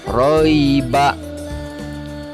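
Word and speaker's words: رَيْب: Ditulisnya roiba. Ketika wakaf atau ketika kita berhenti membaca, maka dibacanya menjadi roib.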